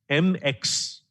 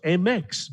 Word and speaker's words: Mx: be identified by gender so mx which is pronounced mix mix presents a viable option